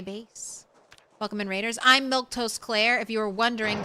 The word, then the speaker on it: Milquetoast: It's got extra letters, but it's simple. It's Milk Toast. You can say Milk Toast.